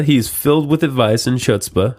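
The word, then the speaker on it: chutzpah: filled with advice and chutzpa hutzpah I said I said it right the first time ask him anything and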